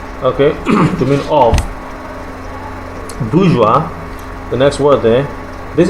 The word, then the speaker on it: bourgeois: terms of wealth right Bourgeois just pronounced Bourgeois like I told you ois is also pronounced as what o-i-r is also pronounced as wa so it's not budgies it's what bourgeois thank you now this